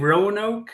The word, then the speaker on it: Roanoke: So, the lost colony of Roanoke, am I pronouncing that correctly even?